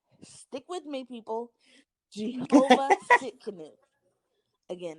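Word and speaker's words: Tsidkenu: So that is Jehovah Shalom, and Shalom is spelled Shalom. And then my last one is Jehovah. Stick with me, people. Jehovah Sitkanu.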